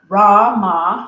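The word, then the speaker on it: Ra Ma Da Sa: to sing today is ramadas so H and it's a healing chant it's a bunch of syllables you'll catch on raama like Rama daa saas like sassy but s say so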